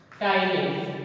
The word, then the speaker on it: Ptyalin: So we have taken starch and mix saliva, and saliva contain an enzyme that is called Tylene, where P is silent.